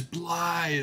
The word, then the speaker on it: Blaidd: There's Blythe! Which I never would have guessed that's how you pronounce it.